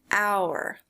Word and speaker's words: hour: a vowel sound an hour look at this so it actually starts with the letter h but that h is silent in english so the first sound